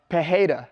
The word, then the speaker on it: Pereira: Pereira, okay?